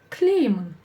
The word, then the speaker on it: тілеймін: Она слово смягчает, но ее практически не слышно. Поэтому в транскрипции можно записывать прямо без нее. Тлеймін, тлеймін. А буква Е в середине слова вам подскажет, что она будет у нас ударная, то есть ударение на нее, и что слово полностью мягкое.